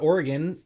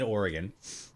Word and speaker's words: Oregon: Yeah, well, you know, he at least pronounced Oregon right. He said Oregon instead of Oregon or like Oregon. Like nobody pronounces that shit like that. What's the other one? Oregon? Yeah, nobody says that. It's Oregon, not Oregon. It's not Oregon. None of that fucking dumb shit.